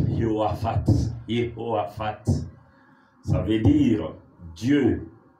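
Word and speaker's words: יהושפט: Josaphat, en hébreu, comme eux-mêmes le prononcent, Yehoaphat.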